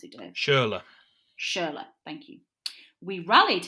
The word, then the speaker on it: Schürrle: Is that how you pronounce it, Dave? Schürrle.